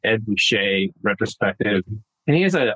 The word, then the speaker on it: Ruscha: I know it's spelled Ruscha. I always had it wrong. My wife corrected me. Ed Ruscha retrospective.